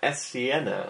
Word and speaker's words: Esiena: This is the Edifier Esiena, I believe is how it's pronounced.